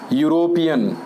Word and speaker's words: European: and the last one european european the starting letter is a vowel but the sound is not vowel sound so what we'll do